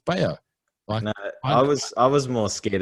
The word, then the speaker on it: Bello: And as do most, Aussies and a lot of Americans and whatever, Cabrera Bello, they pronounce the double L, but it's Bello.